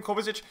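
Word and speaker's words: Kovačić: I think it's Kovacic, that's how you pronounce his name, Kovacic.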